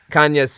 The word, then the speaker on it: Cañas: And Kanyas is normally you spell it with an N-Y, but in the website it's just Canas.